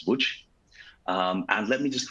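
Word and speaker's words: Łódź: Uh you might know it as Lods, but the proper pronunciation if I do it correctly since I'm not Polish is WH.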